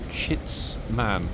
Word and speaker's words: chitsman: And that question is, what is a chitsman? Okay, let me spell it.